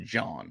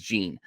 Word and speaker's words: Jean: I always thought it was John. I was pronouncing it John like it was French, but he's Taiwanese. It's James Jean is apparently the proper way to say it.